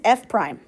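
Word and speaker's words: f′: How we pronounce this right here, F apostrophe, what we say is F prime.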